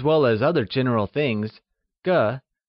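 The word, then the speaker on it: 个: The next measure word we will learn is ge Used for people as well as other general things ge , spoken with a neutral tone, is one of the most important measure words in Mandarin!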